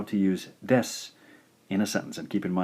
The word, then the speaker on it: です: Alright, so our first grammar lesson here, we'll take a look at this word, desu, des. So, pronounce des, and des is roughly equivalent to is, or am, or are in meaning.